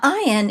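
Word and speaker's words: עין: s as a sound now iein is is similar to the olive in that in modern times in Hebrew it is usually silent this is not however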